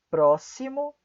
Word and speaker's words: próximo: Algumas outras exceções, temos também as palavras, além de auxílio, máximo, próximo, sintaxe. De novo, máximo, próximo, sintaxe. Essas palavras são algumas outras palavras que também são pronunciadas como S.